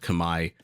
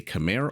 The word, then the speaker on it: Khmer: Khmer like I said even though I know it's technically called Kamai or pronounced Kamai I'm going to say Khmer all the live long